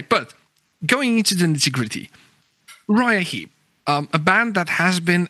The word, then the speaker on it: Uriah Heep: Uriah Heep, yes. Sometimes in the eastern part, they say Uriah Heep. Okay. So, and even Russia, it's more Uriah Heep. Oh yeah, like the Polish, it would be Uriah, something like that.